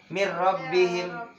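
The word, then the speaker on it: مِنْ رَبِّهِمْ: Tulisannya mir rabbihim, min rabbihim dibaca mir rabbihim.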